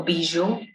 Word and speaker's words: bijoux: me remind you that the reason why the pronunciation of the singular noun bijou and the plural noun bijou is the same is because any word in French that ends with a consonant will not have that consonant pronounced.